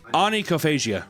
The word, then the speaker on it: onychophagia: Onychophagia.